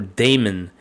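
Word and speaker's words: daemon: you to run containers the docker demon or service demon is spelled like this okay or Damon so Damon is the same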